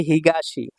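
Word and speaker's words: 東: দেখুন 56 নাম্বার কাঞ্জিটা হচ্ছে হিগাসি। হিগাসি অর্থ হচ্ছে পূর্ব। এটা হচ্ছে এর জাপানিস উচ্চারণ আর চাইনিজ উচ্চারণ হচ্ছে তো।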